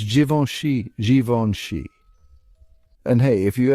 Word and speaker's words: Givenchy: The correct pronunciation is Givenchy. That's right, it's a French name, so get ready to embrace those nasal vowels and silent letters.